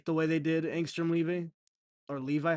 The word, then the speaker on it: Levi: Like I don't like the way they did Angstrom Levi or Levi. How do you say it? It's Levy. Levy.